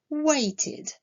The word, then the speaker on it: waited: Le verbe wait, lui, se termine par le son t. La terminaison ed, dans ce cas-là, se prononcera id, waited.